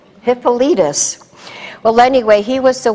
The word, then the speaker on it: Hippolytus: Say his name, Hippolytus. Isn't that a strange name? But it's got rhythm to it, Hippolytus.